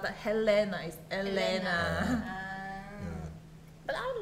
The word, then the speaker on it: Helena: same pronunciation but actually in portuguese h doesn't pronounce anything so it's not that helena is elena but i like his